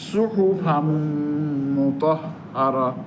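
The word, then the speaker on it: صحفا مطهرة: ওই যে ফান যে নুনটা, তানবিনের নুনটা, ওইটা মিম হয়ে গেছে, মিম দুইবার উচ্চারণ হবে। তাহলে সুহুফাম মুতাহহারা, সুহুফাম মুতাহহারা।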